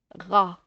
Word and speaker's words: rat: Tu as remarqué le T ici à la fin? Je vais faire les syllabes. Regarde, rat, mais le T ne se prononce pas.